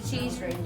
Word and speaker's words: Cheesewring: Is it Cheesewring? It's the Cheesewring, yeah. Cheesewring Hotel. Spelt cheese and then W ring.